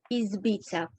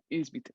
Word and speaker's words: Izbica: Just for the sake of pronunciation, it's Izbica. Izbica, thank you.